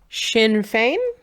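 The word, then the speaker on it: Sinn Féin: Sinn Fein? Correct. Yes, I knew it had a sh.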